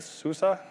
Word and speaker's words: SUSE: I am the head of community evangelism here at SUSE. It's S-U-S-E, it's pronounced SUSE.